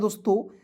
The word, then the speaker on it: the: चलिए अब इतना बहुत सारे ऐसे दोस्त हैं THE रहेगा तो इसे डी पढ़ लेंगे, नहीं द पढ़ना है, ठीक है।